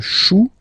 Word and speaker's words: chou: Then un chou. Okay, remember, when you combine this C and H, you get the sound sh, sh, sh.